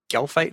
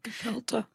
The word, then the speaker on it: gefilte: series, you have a recipe for gelfite fish. Is that, I don't know if I'm pronouncing that correctly. Gefilte. What, Julie? Gefilte. Thank you. You didn't know how to say gefilte fish.